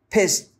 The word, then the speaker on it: pissed: really pissed me off let's look at the pronunciation of pissed because here this is an ed a past simple verb but the sound of that is a very soft tape pissed off pissed pissed pissed now when we say